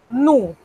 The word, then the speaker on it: nous: Nous, sin la S. Se escribe, pero no se pronuncia.